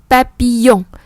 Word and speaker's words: papillon: Le papillon, yoga, le papillon.